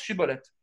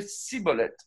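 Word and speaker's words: שיבולת: fallait leur dire prononce Shibboleth. Et si c'était des Éphraïmites qui se faisaient passer pour des Guiladites, ils ne savaient pas prononcer Shibboleth, ils prononçaient Sibboleth.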